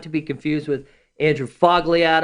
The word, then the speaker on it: Fogliato: be confused with Andrew Fogg liad oh the G is silent from just sell homes